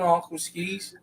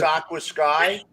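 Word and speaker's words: AquaSky: Doc, what's an aqua skis? Aqua Sky? It looks like skis. Damn it. Yeah, I know skis, but it's Aqua Sky.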